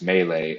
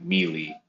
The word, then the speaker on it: melee: before I learned that melee is pronounced melee and not melee.